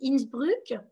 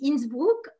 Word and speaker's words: Innsbruck: mais parfois je dis innsbruck en bon français et parfois je dis innsbruck en allemand presque parfait voilà parce que la prononciation est différente mais bon maintenant vont